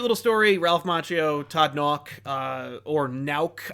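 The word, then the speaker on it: Nauck: story Ralph Macchio Todd knock or now I don't know how to pronounce it I always pronounce it knock but he has a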